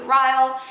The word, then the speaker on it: Ryle: I'm pretty sure you pronounce his name Ryle, which is really funny because in the beginning of the book, I thought it was Riley, but it's not Riley. I think it's Ryle.